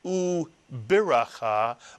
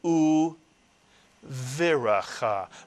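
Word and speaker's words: וּבְרָכָה: And therefore the pronunciation of this word is not u biracha, but u viracha, mitsuyan, u viracha, and a blessing.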